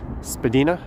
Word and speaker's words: Spadina: oops sorry troy you are correct it is pronounced spadina there's the johnny strides tower currently the tallest